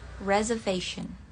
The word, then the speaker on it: reservation: Dibacanya itu, kalau British, reservation. Reservation. Jadi bukan reservation atau reservation, reservation. S-nya agak-agak mirip Z.